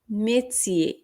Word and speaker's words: métier: এখানে টির উচ্চারণ হবে চয়ের মতো আর ইয়ার এর উচ্চারণ হবে শুধুই এ। সো এটা হবে le métier, le métier এর মানে পেশা।